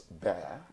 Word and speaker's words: bear: How many Nigerian children pronounce bear as bear? They call it beer.